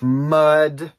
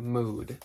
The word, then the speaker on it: Mud: I one time heard someone pronounce that mood, but I really don't think it's pronounced mood, is it? No, what it's mud, and it's always been mud, and if you pronounce